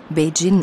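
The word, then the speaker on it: 北京: Status einer eigenen Provinz der Name der Stadt wird auf Chinesisch beijin ausgesprochen und bedeutet nördliche Hauptstadt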